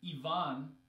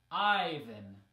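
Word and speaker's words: Иван: example of this is in Russian Yvonne and in English Ivan right here the stress changes so the name sounds very different so if someone tells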